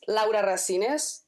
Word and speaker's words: Laura Rasines: all right yeah well my name is laa rasines as it is pronounced in in Spanish I'm from Northern Spain